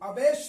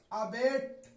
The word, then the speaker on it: abate: यहां पढ़ा जाएगा अबेट। यहां अबेट नहीं पढ़ा जाएगा, यहां अबेट पढ़ा जाएगा, इसलिए कि आखिर में ई है।